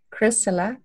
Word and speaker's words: Chrysilla: course it's ch AR y SI double la Kris Allah and my last name is spelled le w i es okay very cool